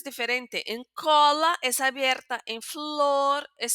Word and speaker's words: cola: Entonces, eh cola, aquí no tenemos tilde, pero perciben, pueden percibir que la pronunciación es abierta.